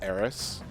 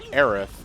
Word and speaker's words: Aerith: the original questionable translation and it was eros and I know her it's eros for so long but then I play Kingdom Hearts and they say Aerith and I'm like okay that's what was that about I do the research it's like oh it's always era okay well I'm gonna call her era because that's the way